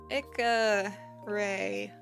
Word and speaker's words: Icarae: stabilization off okay so it's a combination of Icarus and Ray that's how you get Ika Ray just how you pronounce it I was I was